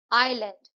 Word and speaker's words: aisle: Island, इसमें S silent है. Rack, इसमें डब्ल्यू साइलेंट है. आइल, इसमें एस साइलेंट है.